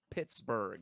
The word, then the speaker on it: Pittsburgh: Again, like pizza, it's 2 syllables. Pittsburgh. It doesn't take long to say it.